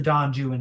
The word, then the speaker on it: Don Juan: he's a proto-romantic to Don Juan as well. I mean, this is a Spanish hero right? Though he's made a little English in the pronunciation in order to fit it.